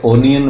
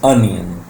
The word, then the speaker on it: onion: Word ONION क्या बोलेंगे आप इसे ओनियन बोलेंगे. No, this is अनियन. O sound a sound को प्रोड्यूस करेगी.